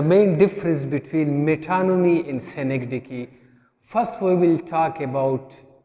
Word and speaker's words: synecdoche: will discuss metonymy and synecdoche how it is pronounced is synecdoche in a synecdoche and metonymy they are often